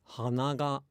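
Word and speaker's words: 鼻が: So the thing is, if you just say nose and flower in isolation, they are the same. They're both hana, hana, hana. But then if you say them with the following particle, they're completely different. Nose is hanaga, where flower is hanaga.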